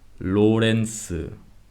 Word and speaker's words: 로렌스: When it's in the middle, it is pronounced the same as the Spanish R sound or the Russian R sound. For example, 로렌스.